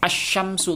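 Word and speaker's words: الشَّمْسُ: contoh Coba kita Uraikan as Syamsu tulisannya seperti ini teman-teman ya tapi kemudian bacanya seperti ini lamnya ini tidak usah dibaca seperti itu contoh kedua Assalamu perhatikan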